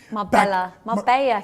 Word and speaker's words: Marbella: Marbella, Eric.